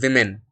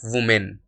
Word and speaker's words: women: Even when it comes to different letters, such as, the plural of woman is women, not women. It is women and not women, right?